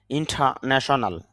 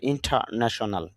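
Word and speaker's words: international: অভ অভ্যন্তরীণ ইন্টারনাল অভ্যন্তরীণ ইন্টারন্যাশনাল যদি আমরা ইন্টারন্যাশনাল বলি র সাউন্ডটা নিয়ে আসি কিন্তু আইপিএ সাউন্ডের মধ্যে র সাউন্ডটা আসেনি এজন্য এরকম উচ্চারণ হবে না হবে ইন্টারন্যাশনাল আন্তর্জাতিক ইন্টারনেট ইন্টারনেট ইংলিশ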